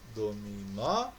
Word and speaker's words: dominó: Nós temos as palavras dominó, abacaxi. Então o nó e o xi são sílabas tônicas.